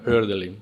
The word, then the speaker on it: Hölderlin: Herdalin se escribe con diéresis en alemán. No, no es hor, sino herdin, ¿verdad?